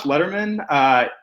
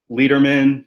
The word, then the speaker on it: Letterman: But yeah, so I'm Letterman. It's pronounced like David Letterman, but it's spelled differently, so people mispronounce it all the time.